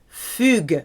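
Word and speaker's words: fuguer: away is fair in Fuger a female fugitive it's where we get the word fugitive from but it's a hard G because of the UE like baguette gue fair you know food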